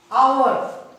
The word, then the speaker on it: hour: Hour, here not hour, hour. So, here H is silent, so we use "and" before it.